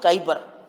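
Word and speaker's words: Kuiper: belt so it is written as quer but pronounce it Kyer after name of a scientist Kyper so it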